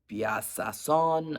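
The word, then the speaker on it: Bijasson: SS o n and I know the J is not pronounced um bason I don't know anyway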